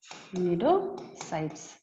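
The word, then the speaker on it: cnidocytes: ठीक है, और नीडोसाइट्स, साइलेंट होता है, सी साइलेंट होता है यहाँ पे, नीडोसाइट्स।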